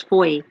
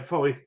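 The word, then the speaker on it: Fowey: People don't know how to pronounce Foy. Yeah, Foy.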